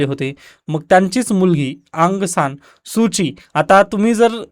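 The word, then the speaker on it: Suu Kyi: सूची आता तुम्ही जर इंग्लिश माध्यम जर पाहिला तर सुकी अशा पद्धतीने लिहिल जातं परंतु चायनीज आणि दुसऱ्या लँंग्वेज मध्ये म्हणजे चायनीज प्रोनन्सिएशन वगैरे जर आपण यांचा केला तर सुची असा होता त्याचा अर्थ ओके मग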